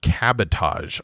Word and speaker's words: cabotage: I've only read it, but it's spelled like sabotage, but with a C.